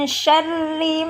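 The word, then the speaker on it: شر: Min syarri ma khalaq. Min ada nun sukun bertemu dengan huruf shin, maka hukum bacaannya adalah ikhfa atau samar. Syarri, di situ ada ra kasroh, maka dibacanya tarqiq atau tipis.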